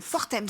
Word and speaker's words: Fortems: On dit le S, ouais, Fortems. Fortems. On prononce toutes les lettres. On n'en laisse pas une de côté.